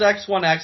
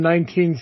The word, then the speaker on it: X1X: Did anyone ever even ask if it's X1X or if it's 19? It was X1X. Steve kept saying X1X on commentary. Yeah, so everyone's just saying it wrong.